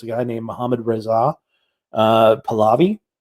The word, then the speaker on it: Pahlavi: And one of the people that was involved in doing this was a guy named Mohammad Reza Pahlavi. It's the proper pronunciation of that, the Pahlavi dynasty.